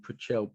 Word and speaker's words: Prechtel: So Martin Prechtel, Prechtel, right? Martin Prechtel. Prechtel, excuse my pronunciation.